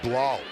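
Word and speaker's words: Blough: win in the fourth quarter last week David Blau rhymes with Kyle you know how much I like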